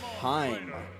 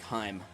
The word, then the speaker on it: Heim: Yes, that's literally how you say it. I know it looks like but I did confirm with Panger, you just say like Heim. But it just looks so funny to look at. Just Heim. That's how you say it. Heim. Kind of like the city of Anaheim over there by Los Angeles.